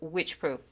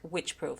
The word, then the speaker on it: Wycheproof: you, it's spelled Wycheproof, and I heard the pronunciation of it, and it is Wycheproof. Of course, it was an Australian accent, but still, to me, it sounds like Wycheproof.